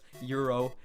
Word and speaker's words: gyro: I know it's not gyro I know it's Euro even though it's spelled gyro but it was good